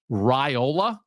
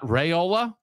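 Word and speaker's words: Raiola: thing from Nebraska is I've been saying the quarterback's name wrong so is that is that okay for the the guy who's about to take over college football for me to acknowledge that it's Rola not rayola oh I think I've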